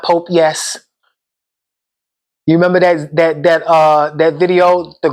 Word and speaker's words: Popeyes: The girl was trying to say Popeyes and she said Pope Yes. I died when I seen that that video. Because wherever she's from, they don't have a Popeyes. So she must ain't know how to say it. She was like, I'm out here in front of Pope Yes.